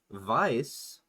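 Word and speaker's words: Weiss: Vice is spelled like Vicey.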